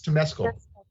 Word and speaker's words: Temescal: The quick last one that I have, and I don't know if I'm pronouncing this right, but it's Temescal or Temescal Wellness. I completely butchered that. It's Temescal.